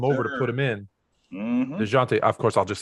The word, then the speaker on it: Dejounte: I call him Dewante, but will you say his name right? Say his name right. Tell me. It's DeJounte Murray. DeJounte Murray.